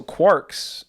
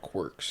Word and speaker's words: quark: So quarks are uh spell that. Q U A R K. Okay. So not quirs quarks. Quarks.